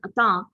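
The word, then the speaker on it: entente: explain it is a french word it is pronounced as atta although spelled as e-n-t-e-n-t-e it's a french word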